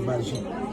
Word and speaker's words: magie: Is magie the way that you pronounce magic? Yes, magie. That's how you say it in French.